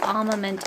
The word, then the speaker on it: armament: R is silent, it is armament in British.